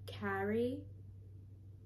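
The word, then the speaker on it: Kharei: name wrong constantly, because my real name is K-H-A-R-E-I, Carrie. But like, it's a whole thing. It's not hard to pronounce. It's just like a weird way of spelling it.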